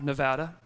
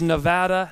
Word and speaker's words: Nevada: in Reno Nevada and it is Nevada not Nevada do we know that do we know that for some reason our state's the only one that has two pronunciations I don't know why nobody calls it Nebraska I've never heard Alaska right next to Canada so it's not Nevada does that make sense